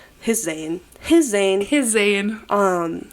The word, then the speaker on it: Zayn: But yeah, it's Zane. Just Zane. I feel like I love like a one name. Just Yeah. One consonant, not consonant syllable.